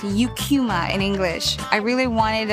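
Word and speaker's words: Eucheuma: And I I would hear Japs pronounce the name of the seaweed species as Ekkuma. The scientific name is pronounced Yukuma in English.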